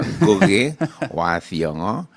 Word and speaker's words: Ngugi wa Thiong'o: name, and by the way, I think you pronounced it very correctly. Oh, thank you very much. I was worried about that. Yeah, Ngugi Wa Thiong'o.